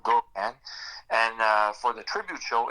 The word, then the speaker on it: Gogun: If you want to see my personal page, it's Daniel Gogan, and that's spelled Gogun. So Daniel Gogan.